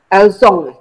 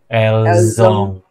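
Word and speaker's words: ils ont: Elzong. Elzong pakai Z.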